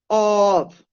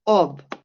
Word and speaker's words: of: the in the pronunciation it's not off yeah it's ob yeah like a b that is important to